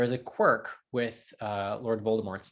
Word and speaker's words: Voldemort: The author has claimed that the T is silent and that it is indeed deriving from the French vol de mort, which either means flight